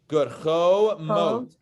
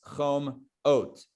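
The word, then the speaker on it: חומות: By the way, in case when you see this middle word and you're like, okay, hold on, chom, and then you realize, whoops, I can't be chom because then it's chom oat.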